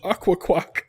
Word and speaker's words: Akwakwak: Oh my god, and Golduck is Aqua Quack. It's spelled What does quack mean? AKWAKWAK. Whoa, can you say that again? AKWAKWAK. Wow. Aqua Quack.